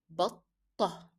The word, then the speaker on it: بطة: Capital letter to tell you that it's a hard sound, duplication because it is carrying shadda. So how to pronounce it? You make it like this. Batta. You remember the rule of when you stop, you drop, and when we are stopping on t marbuta, we drop the pronunciation of t and we replace it with h.